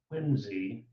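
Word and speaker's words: Quincy: Secretary of State John Quinsey. That C is pronounced like a Z.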